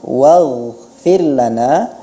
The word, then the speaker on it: waghfir lana: Kemudian kata waghfir lana, dalam pelafalan waghfir lana, sebenarnya huruf ghain, huruf-huruf isti'la itu tidak ada dipengaruhi oleh berkumpulnya bibir.